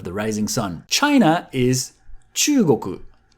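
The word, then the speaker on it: 中国: China is Chugoku. Chugoku. Chugoku. Be careful with the long vowel, chu.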